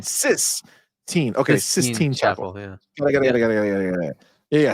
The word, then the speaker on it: Sistine: Not 6, but Sistine. Not 16. Sistine.